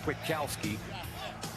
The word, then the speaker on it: Kwiatkoski: 2016 NFL draft the Chicago Bears select Nick kwidakowski linebacker from West Virginia yay go Bears well done well done congratulations have fun Nick is pronounced Witkowski linebacker from West Virginia understand what they're trying